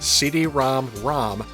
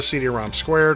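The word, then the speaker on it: CD-ROM²: However, it is officially pronounced CD-ROM-ROM as opposed to CD-ROM Squared or CD-ROM2.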